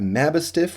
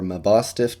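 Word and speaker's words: Mabosstiff: brings us to a mabbistif or my boss stiff depending on how you pronounce it and he's kind of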